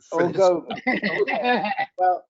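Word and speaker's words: Orgovyx: Orgovix. Well, John Ivory is the Orgovix pronunciation, please, and he's gotten me saying it right.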